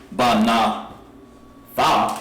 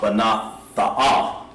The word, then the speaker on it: banath: It wouldn't say ba na tha, ba na tha. We're not saying ba na tha. We're saying banath. The last thing you hear is tha.